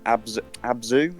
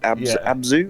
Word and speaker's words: Abzu: If you like Journey, you'd like, I don't know if you've Abzu, have I pronounced that right? Abzu? Yeah, ABZ.